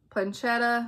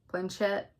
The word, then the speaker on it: Planchette: And then I got a Cat Ouija Planchetta. Is that how you say it? Planchette.